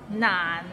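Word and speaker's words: 難: i eat an orange naan it's not not it means difficult and it's difficult to pronounce so it starts with n and ends with another end and it's in the low tone so nah practice and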